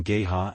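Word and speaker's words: GEHA: League NFL the stadium has been officially named Gaya field at Arrowhead Stadium pronounced GHA since March 2021 following a naming rights deal between Gaya and the Chiefs 12 the agreement began at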